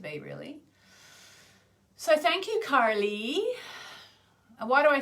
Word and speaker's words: Kali: So thank you, Karli. And why do I say Karli? Because instead of Carly in my Australian accent, Karli, mate, because I've been taught